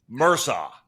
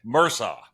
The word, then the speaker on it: Mursau: Chris Mursau. Mursau. Perfect. Mursau.